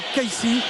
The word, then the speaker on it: Kissi: Vous savez que son nom s'écrit Kissi, mais tout le monde l'appelle Kaissi, y compris ses coéquipiers. C'est une intonation arabe tout simplement.